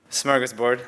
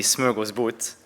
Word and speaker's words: smörgåsbord: And I'm bringing to you today an architecture smorgasbord, as we would pronounce it in English, but in fact it would be smörgåsbord in Swedish.